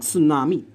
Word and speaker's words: tsunami: make the T sound, but if they ask you to spell tsunami, all right, and you spell it with a S, right, you get it wrong because they'll tell you the T silent.